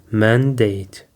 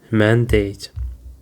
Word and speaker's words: mandate: Actually it is pronounced like mandate. It contains two syllables man and date. And the stress is on the first syllable mandate.